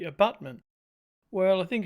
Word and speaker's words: abutment: somebody's just told me I'm not pronouncing your Butte mint correctly it should be abutment well I think it's